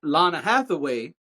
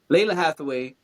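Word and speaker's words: Lalah Hathaway: Uh, Lana Lana Hathaway put five hearts. One, two, three, four, five, six hearts. I don't know why I pronounced her name wrong. And that's my girl, too. Leila Hathaway put six hearts and said 35 years in counting.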